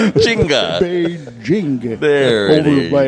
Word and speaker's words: Beijing: pronounce. How about that? There you go. Beijing. B-A-Y. All right. J-I-N-G. Right? Chinga. Beijing.